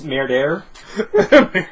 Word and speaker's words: Murder: It's Merdair. There. Please pronounce it correctly.